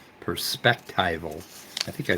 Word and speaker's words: perspectival: the right pronunciation actually what I'm saying is pers as in perspective perspectival perspectival yeah not if you mean